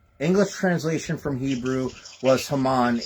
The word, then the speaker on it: Haman: Uh the the Yeah, it's the the the Greek um the he the English translation from Hebrew was Haman.